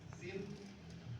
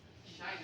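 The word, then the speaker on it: sinh: k a ini paham Sin H enggak tahu bacanya gimana Tapi kan bacanya Shine ya karena kalau baca Sin juga enggak tahu kenapa I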